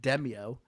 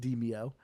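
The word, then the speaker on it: Demeo: a dumb American like me, I just kept pronouncing it Demio, but apparently it's pronounced Demio.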